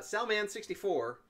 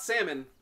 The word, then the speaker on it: Salman: Salman64. That's not me. Man. And Oh. it's not salmon, it's Salman. It's pronounced Sal Man.